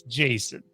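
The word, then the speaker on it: Jacen: i can confirm 100 all of them pronounced to jason it's jason i am 100 linking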